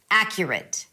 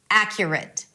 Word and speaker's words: accurate: Now, let's build up that pronunciation confidence. Accurate. Accurate.